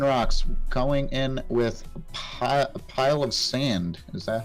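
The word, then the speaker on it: Palossand: Moving on to the Lunar Mountain Lichen Rocks, going in with a pile of sand. Is that how you pronounce it?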